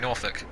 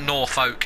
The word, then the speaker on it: Norfolk: name by the way it's not nor folk its Norfolk Tara Norfolk oh crap